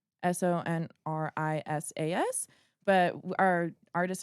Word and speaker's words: Sonrizas: Sonrisas. Okay, to roll it. What's the worst Sunrises.